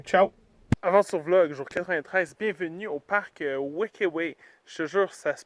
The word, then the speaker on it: Huerquehue: se voit demain ciao 93 bienvenue au parc wakaway je te jure ça se prononce comme ça ça s'écrit comme ça incroyable